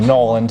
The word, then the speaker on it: New Orleans: This is the original streetcar named Desire from New Orleans, or Nolans as they say.